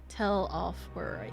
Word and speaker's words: Telophoroi: Telophoroi. Yeah, I'm finally saying it right.